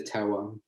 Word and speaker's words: terroir: you also taste the terroir. Okay. Sorry for my pronunciation. No, terroir is perfect. It's a French word, so no one could pronounce it anyway.